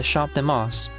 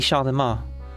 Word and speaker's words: Champ de Mars: steady infrasound at the Champ de Mars. I think even the M is silent. The Champ de Mars.